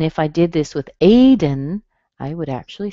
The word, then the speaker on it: Aiden: This happens with words that have a D and a schwa and an N at the end. Okay, so the spelling of the vowel can be an O or an E or an A, it doesn't matter. But if it's between a D and an N, you'll probably hear a schwa or Gordon, Aiden.